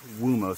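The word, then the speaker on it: Uomo: on Valentino wumo it's U Mo but the way I've heard it pronounced is wumo so it's like a w Valentino wumo born in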